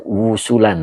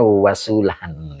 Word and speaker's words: wasulan: Angwawi, boleh Pak tadi baca wusulan. Nah, ini bacanya wasulan ya. Ya, wasulan. Nanti maknanya beda. Ya Pak ya. Ini dibacanya wasulan. Gitu.